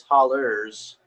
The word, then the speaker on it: hollow: or also known as hollers. So you could pronounce it Desert Holler if that really tickles your fancy. Well, but, the thing is, it's spelled hollow, but people just pronounce it holler, you know.